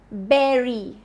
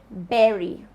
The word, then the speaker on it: bury: That's not how it is pronounced. But BURY, which is berry, berry.